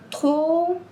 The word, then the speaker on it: trop: As letras D, S, T, P no final de uma palavra em francês não são pronunciadas.